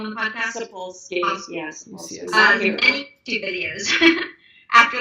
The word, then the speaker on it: Sapolsky: All right, so Sharon said that her husband and her watched 3 of Robert Sapolsky, is that how you pronounce his last name on the podcast? Sapolsky, yes.